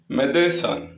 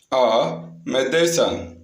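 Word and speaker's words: médecin: Next one மெதேசான். மெதேசான். மெதேசான். மெதேசான். ஸோ ஏ மெடிசன் அப்படின்னு அர்த்தம். ஏ மெடிசன் ஒரு மருந்து அப்படின்னு அர்த்தம். இந்த இடத்துல ஈக்கு மேலே கூட ஏ அப்படின்னு ப்ரொனவுன்ஸ் பண்ணணும்.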